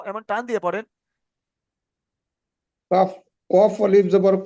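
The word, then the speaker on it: ق: Calf আলিফ জবর কা। Calf নয়, ওটা লাম ক। লাম ও ভাইজান শোনেন, ওটা কাফ নয়, ওটা কফ। কফ কফ। আলিফ জবর ক।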